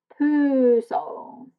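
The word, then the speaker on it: Pujol: po Soul funny enough his Sur name is pronounced po Mr Po was a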